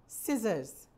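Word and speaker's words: scissors: सिजर्स में C silent है.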